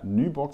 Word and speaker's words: Nyborg: Heute bin ich zu Gast bei der Nyborg Distillery. Am I pronouncing that correctly?